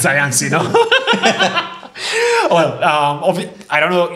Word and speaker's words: Sayansi: And then we found, you know, this is super easy to pronounce because Swahili is like Spanish, no? You say things exactly the way you write them.